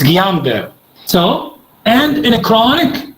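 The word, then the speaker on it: Guillain-Barré: like in gulen berry syndrome all the correct pronunciation is guillain-barre not guillain-barre this is iraqi way gulian delhi it's guillain-barre so and in a chronic and inflammatory demyelinating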